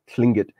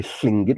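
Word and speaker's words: Tlingit: so so like like King clingit is actually fling it with an l i n g i t as you spell it type those in and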